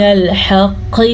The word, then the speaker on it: الحق: من الحق شیئا. قاف کا قلقلہ ادا کرنا ہے کیونکہ قاف حروف قلقلہ میں سے ہے.